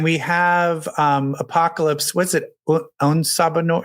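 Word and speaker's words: En Sabah Nur: En Sabah Noor. How do you say his name? En Sabah Noor.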